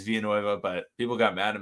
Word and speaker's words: Villanueva: video was alejandro villanueva because i say it like that it's technically how he says it's via nueva but people got mad at me uh when i say villanueva so i'll say villanueva